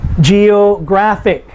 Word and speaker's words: geographic: that end in IC, geographic. How many syllables? Geographic. G is the first syllable, ick is the last syllable, the next to the last syllable is graph.